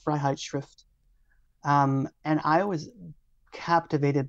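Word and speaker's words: Freiheitsschrift: um his freedom essay so in German it's pronounced fright shrift um and I was captivated by this text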